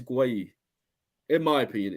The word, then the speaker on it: Gueye: Guys, put down below how do you pronounce the centre back from Palace. It's Gueye. In my opinion, it's Gueye. I I don't thought think it it's was gay.